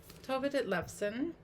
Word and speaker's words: Tove Ditlevsen: to pronounce names correctly you know let's see pronunciation tova de lebson oh tova did lefsen okay so this really caught my interest because